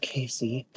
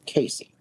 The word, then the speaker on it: Case: The name of the town was locally pronounced in 2 syllables, exactly like Casey."